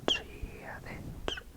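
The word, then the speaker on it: Dia dhuit: Like it's T-I-A space T-H-U-I-T, but it's Giavich.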